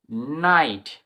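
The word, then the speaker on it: night: যেরকম দেখ for example N আই জি এইচটি নাইট নাইট মানে আই এর লং সন হচ্ছে জিএইচটি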